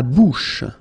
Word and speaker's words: bouche: La bouche. So remember, CH combined together will give you this SH, SH sound.